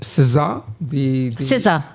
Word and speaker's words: SZA: No, it's SZA. That's how you pronounce it.